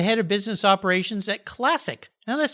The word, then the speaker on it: Clasiq: williams is the head of business operations at classic now that's spelled c-l-a-s-i-q it's an all-new truly independent online